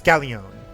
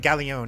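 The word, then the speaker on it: Gallione: uh I think it's gallion I think this is one of those instances where you actually do pronounce the L's uh so the number of brins roaming gallion is on the rise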